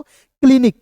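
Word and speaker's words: clinic: आई एन आई सी, तो क्या पढ़ेंगे क्लिनिक नहीं पढ़ लेंगे, इसे पढ़ेंगे दोस्तों क्लिनिक। कैसे, सी का उच्चारण यहाँ पे आधा क के रूप में होगा, एल यहाँ पे लॉ होगा, आई है तो ई के रूप में उच्चारण करेंगे, एन आई से होता है दोस्तों नी होता है, सी का उच्चारण यहाँ भी क के रूप में करेंगे, हो जाएगा दोस्तों क्लिनिक, ठीक है।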